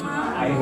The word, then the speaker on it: Mma: if it's Maramotse or Ma? Well, you're right in the second pronunciation there. The double M in Setswana language accentuates the M sound a bit, so it's ma.